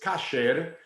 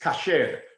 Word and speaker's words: kasher: the hebrew pronunciation is kashir in english because of yiddish it becomes kosher but the word is kasher which means appropriate or fit uh